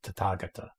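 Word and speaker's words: Tathāgata: Of course, now I know it's pronounced Tathagata, or at least that's how I pronounce it now.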